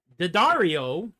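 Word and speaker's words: D'Addario: wonderful strings by the way these are um Daario which is spelled D Apostrophe a d d a r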